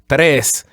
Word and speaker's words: tres: Exactly, and on the case of number 3, tres, that would be tres as opposed to tres. Just keep the e just like that, tres.